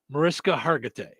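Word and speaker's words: Mariska Hargitay: Uh I pronounce her name Marissa Hargatee.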